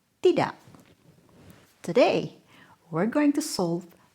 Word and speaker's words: tidak: Why doesn't tidak end with a K?